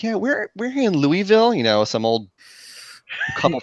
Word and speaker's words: Louisville: so Louisville okay well about dressing you S is silent I've heard it it's like this Louisville yeah those are you in there Louisville ul at the end Louisville if your friend